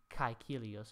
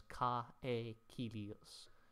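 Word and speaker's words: Caecilius: So for some examples, you can see the diphthong here, A-E, kaikilios, it's not counted as ka-e-kilios, it's counted as kaikilios.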